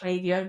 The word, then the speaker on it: Klaviyo: For product-based businesses, generally speaking, if you're on Shopify, then Klaviyo, it's actually pronounced Klaviyo, but they're American. I'm not. So Klaviyo is...